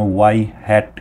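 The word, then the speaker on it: ŷ: আর normally আমরা হচ্ছে mathematically হচ্ছে মেশিন লার্নিংয়ের প্রেডিকশন বোঝানোর জন্য ওয়াই হ্যাট ইউজ করি। সো এটাকে আমরা প্রোনাউন্স করি হচ্ছে ওয়াই হ্যাট।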